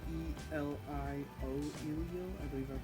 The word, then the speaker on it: Elio: Elio is spelled E-L-I-O, Elio.